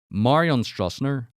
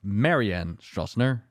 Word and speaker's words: Marianne Stroessner: Marion Stroessner. Sorry, that is a very Dutch way of pronouncing that name. Apparently it's pronounced Marianne Stroessner.